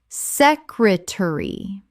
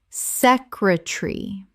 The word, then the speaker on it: secretary: Secretary. Correct pronunciation. Secretary. 3 syllables in British English. The middle syllable collapses.